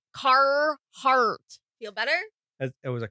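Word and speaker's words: Carhartt: carart carart yes it's it feels weird to like overly emphasize there's two RS in that word and you pronounce you want me to roll my RS now no I just want you to pronounce either of the two car heart feel better it was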